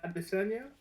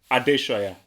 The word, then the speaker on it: Adesanya: Is it Adesanya? He won. well, I believe it's Adeshoya. So the S is like as like ish. So Adeshoya, I believe.